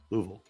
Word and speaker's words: Louisville: Louisville Louisville Louisville Kentucky it's not Louisville or Louisville it's Lou louv it's two two syllables louville noin uh instead of